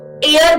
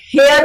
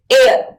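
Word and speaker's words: heir: तो एयर बोलते हैं, इसे हेयर नहीं बोलते, एयर, ठीक, एयर।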